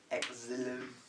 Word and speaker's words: xylem: Yep, I'll let you draw that while I write xylem. Oh, okay. So It's not spelt how you'd think it's spelt. no. Xylem.